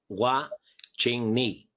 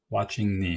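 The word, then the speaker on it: Hua-Ching Ni: So how did you then meet up with, I forget how to pronounce his name, the master? Master Hua Ching Ni. Hua Ching Ni.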